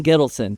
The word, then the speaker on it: Gittelson: Gittelson, did I say your last name right?